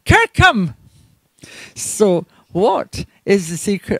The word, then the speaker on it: Kirkcolm: that interpretation as does the modern local pronunciation which i've said is still kirkham so who is the